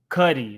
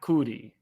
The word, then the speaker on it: Cudi: Cuddy, not Cootie.